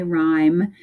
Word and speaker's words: rhyme: So this one, the Y is saying the I, rhyme. And this one, we've got rhythm.